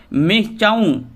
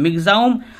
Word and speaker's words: Michaung: intensified into cyclonic storm मि चाउ नाम मचाउ किंतु उच्चारण करता मम एम आई जी जे ए यू एम मिजा उम अर्थात मिचा नय उच्चारण हो मिजा ब आंध्र प्रदेश अलट